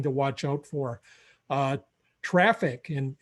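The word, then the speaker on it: Traefik: where it i believe it's pronounced traffic even though it isn't spelled like that and this is a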